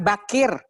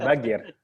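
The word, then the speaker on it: Baqir: Bakir, Muhammad Bakir. Iya Muhammad Bagir. Kir. Itu tergantung cara bacanya Bu. Kalau di Persia, kalau di Persia itu qaf itu dibaca g.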